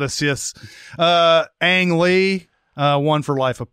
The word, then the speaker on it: Ang: Ang Lee won for Life of Pi. Another hard name to pronounce. Yeah, very hard. Very hard. I was calling him Ong for the longest time.